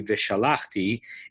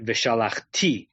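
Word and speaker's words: וְשָׁלַחְתִּי: the Trupp shows us, even though in modern Hebrew it would be Vishalachti, it's Vishalachti et yadi v'hiketi et Mitzrayim, because the Trupp tells us which syllable to emphasize.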